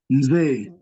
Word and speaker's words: mzee: We say ze, ze. So we say mze, Say. so it's mze, mze.